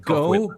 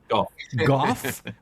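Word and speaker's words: Gough: Is it Goj? Goff with like an F sound at the end.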